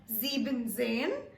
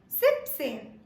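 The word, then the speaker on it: siebzehn: pronounced as Z but we do not pronounce 17 as zeben Zen we rather pronounce it as Zips Zips all right with that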